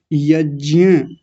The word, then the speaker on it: यज्ञ: असली शब्द क्या है, ये, और कैसे बोला जाएगा, यज्ञ। आज हमारे घर में क्या हुआ, यज्ञ हुआ। हम अपने घर में क्या करते हैं, यज्ञ करते हैं। ब्राह्मण लोग, पंडित लोग, पुरोहित लोग क्या करते हैं, यज्ञ करते हैं, यज्ञ। ध्यान रखिए, यज्ञ नहीं, यज्ञ तो बहुत लोग बोलते हैं, गलत बोलते हैं, यज्ञ शब्द गलत है, यज्ञ।